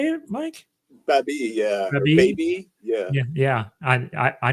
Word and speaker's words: Baby: Baby, yeah.